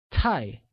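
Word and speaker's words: 太: too much translates as tie which is pronounced using a falling tone good hence I don't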